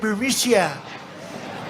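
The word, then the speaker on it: Burisma: Executives so these uh biria buia they say pronounce it buia a real beautiful Company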